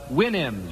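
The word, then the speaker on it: Houyhnhnms: mythical kingdom was the Winnims. Remember the Williams to PR sound to pronounce supposed to pronounce it like you do a horse's winnie I think.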